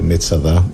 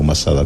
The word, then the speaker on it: Masada: del cual nos encontramos pues Metsada o masada como lo pronunciais en castellano.